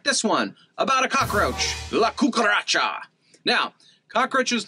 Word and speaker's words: La Cucaracha: struggle to walk now the cool part about that is la cuca ra cha the fifth syllable there gets stressed or emphasized isn't that really interesting